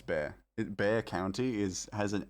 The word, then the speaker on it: Bexar: It's Bear. Bear County has an X in it? No. No. That's horrifying. I'm very mad, and I'm mad about this. The X is silent?